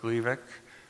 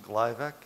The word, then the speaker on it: Gleevec: that way here because it would be mispronounced gliveck and confused with Glyburide a treatment for diabetes